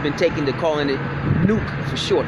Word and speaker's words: NUK: And a lot of us have been taken to calling it Nuke for short, because N-U-K sounds like Nuke when you pronounce it as a word.